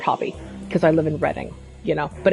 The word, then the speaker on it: Reading: So my bio is I'm a lawyer based in this city named after my favorite hobby because I live in Reading. But it's pronounced reading if you look at it on the page.